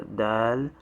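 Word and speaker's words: دال: the first two are dal and that the the first one a dal is like the english d so it's written in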